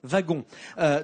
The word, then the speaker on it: wagon: C'est une habitude parce que ça vient de l'allemand Wagen, le wagon, donc ça doit se prononcer wagon.